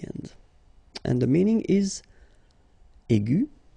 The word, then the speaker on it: aigu: Okay, and then the feminine form will be aigu. So phonetically, it is exactly the same thing.